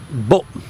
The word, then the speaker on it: bụng: So bụng, bụng, B-U-N-G, but it's sort of pronounced more like B-U-M, bụng, bụng, and it's very abrupt. It's not elongated at all. It's a very abrupt sound, which, as I say,